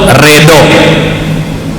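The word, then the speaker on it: ridla: Ridho, redo. Nah, redo itu tulisannya R-E-D-L-A. Redla. Orang dulu nulis huruf do itu D-L.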